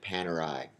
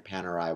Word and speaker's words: Panerai: Coming in at number nine is Italian watch brand Panerai. And from what I understand and what I have read, that is the correct pronunciation.